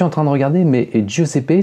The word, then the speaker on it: Giuseppe: Je suis en train de regarder, mais Giuseppe, c'est un prénom italien qui se prononce plutôt Giuseppe que Giuseppe.